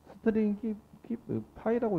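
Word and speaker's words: stringify: 제이손 데이터를 찍을 땐 제이손 점 스트링 가지고 스트링 파이라고 읽어야 돼요. 스트링 p라고 읽어야 돼요.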